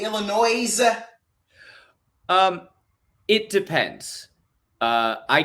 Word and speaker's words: Illinois: that do you get upset when people say Illinois um it depends uh I get upset if I point out hey it's actually pronounced Illinois and then you look me straight